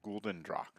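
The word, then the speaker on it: Gulden Draak: My favorite beer is Gulden Drac.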